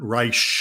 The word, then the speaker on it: Reich: And also for introducing me to the fact that you need to pronounce it Robert Reich.